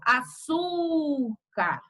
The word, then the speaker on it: açúcar: Então, a penúltima sílaba, ela é acentuada e ela é mais forte porque ela é mais forte.